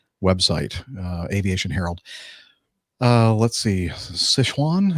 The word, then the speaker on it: Sichuan: Let's see, Sichuan, is that how you would pronounce Sichuan? Sichuan? That's exactly right.